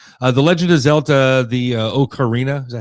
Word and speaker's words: Ocarina: The Legend of Zelda, the Ocarina, is that how you say it, of Time? I've never played that one. Ocarina of Time.